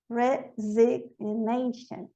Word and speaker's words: resignation: Resign, resignation. Aqui ela não pronuncio, aqui eu pronuncio.